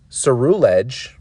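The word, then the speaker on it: Ceruledge: suru ledge or suruledge i just say it's a rulage because it's smoother i don't know just the way you i'm always i'm always pronouncing words that end with ledge like cerullage makes sense to me but if you want to say suru ledge and enunciate that by all means uh this one's also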